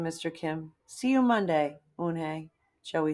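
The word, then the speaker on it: Unhei: "Yes, it's pronounced Eun-hee. And it means grace," Mr.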